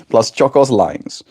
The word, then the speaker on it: Blaschko's lines: Blaschko's lines.